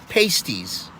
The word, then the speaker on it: pasties: selling these things called p-a-s-t-i-e-s now under normal circumstances the english language would tell you that that's pronounced pasties up here for the eupers the upper peninsula people they call them pasties okay now past these